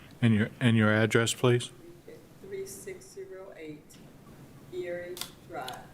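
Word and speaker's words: Eyre: 3608 Erie Drive. It's spelled E-Y-R-E.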